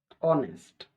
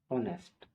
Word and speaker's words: honest: यहाँ ऑनेस्ट, HONEST, ऑनेस्ट, ऑनेस्ट के उच्चारण में यहाँ एच साइलेंट हो जाता है और ओ से शुरू होता है।